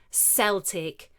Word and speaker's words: Celtic: Celtic, sometimes pronounced Celtic, can be anything related to the Celts or their language or culture.